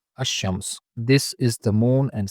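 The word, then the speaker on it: الشمس: Lam is silent here in ash-Shams. It is not al-Shams but ash-Shams.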